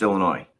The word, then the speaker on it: Illinois: By the way, the the state is pronounced Illinois.